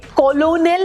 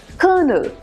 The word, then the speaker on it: colonel: अब ये क्यों हुआ और कैसे हुआ ये मुझे नहीं पता, but this is नॉट कॉलोनल, इट्स कर्नल। बल्कि आर भी साइलेंट नहीं है, बहुत बोलने का मन करे तो आधा रोल्ड आर, इट्स कर्नल।